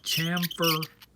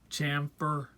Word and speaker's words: chamfer: your case out and then you camper and de excuse me tamper chamfer okay rabbit I tried to say it right I got a